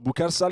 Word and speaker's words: Boukar Sall: So, Boukar Sall is an entrepreneur and co-founder of Plaiz. Is that the right pronunciation?